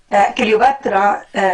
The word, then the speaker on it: Cleopatra: Cleopatra, this inner conflict Rafa'an, leads just to correct the pronunciation, Cleopatra.